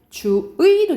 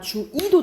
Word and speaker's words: 주의: 근데 만약 첫 번째 글자가 아니야, 이렇게 첫 번째 글자가 아니야, 그러면 원칙은 의로 발음해야 되지만 뭐도 가능? 이도 가능이라고 보시면 돼요. 주의도 되지만 주이도 된다 이 말이야.